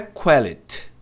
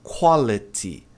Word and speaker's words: quality: Então, se tem Y, vai pronunciar com som de i. Às vezes tem som de I, né? Vai depender, tá? Mas aqui tem som de i. Então, não é quality, é quality.